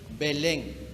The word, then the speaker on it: Belén: estas dos o tres porque esta es muda y se lee o se pronuncia belén pero en algunos lugares